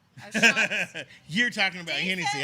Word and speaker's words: O'Shaughnessy: saying Oshak Hennessy. O'Shaughnessy.